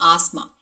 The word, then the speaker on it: asthma: Okay, so here T and H has to be silent and it is asthma.